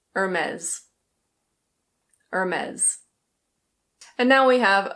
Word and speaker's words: Hermès: In French this is pronounced Hermès. Hermès. In British English it's a Hermès. Hermès. In American English the R is pronounced, so it's Hermès.